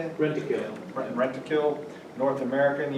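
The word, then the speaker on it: Rentokil: Rent-a-kill.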